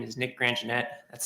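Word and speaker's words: Grandgenett: yeah um good afternoon my name is Nick granjanette that's spelled n-i-c-k-g-r-a-n-d-g-e-n-e-t-t I'm a Staff attorney with Nebraska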